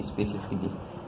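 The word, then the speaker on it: specifically: एक ऐसा वर्ड आपका स्पेसिफिकली, स्पेसिफिकली। और आपका अगला वर्ड सर्जिकली, तो इन वर्डों में आपका साइलेंट हो जाता है ए।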